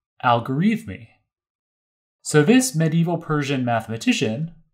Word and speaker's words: Al-Khwarizmi: So in English, we pronounce this Al-Khwarizmi.